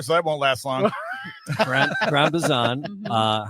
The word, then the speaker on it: Gran Bazán: So this is how do you pronounce this again? Gran Bazán.